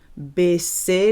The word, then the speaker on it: baisser: To lower, think of baisser, like a bass guitar, or the basement.